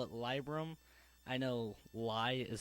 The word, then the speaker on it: Libram: And we have Libram. I call it Libram. I know lie is spelled L-I-E, and Trade Chat said Libram.